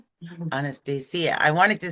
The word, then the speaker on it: Anastasia: Did I pronounce that right? Anastasia. Yeah, Anastasia. Anastasia. Anastasia.